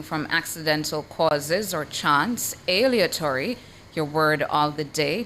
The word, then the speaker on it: aleatory: And your word of the day is spelled a l e a t o r y, spelled a l e a t o r y. aleatory aleatory aleatory Aleatory is your word of the day.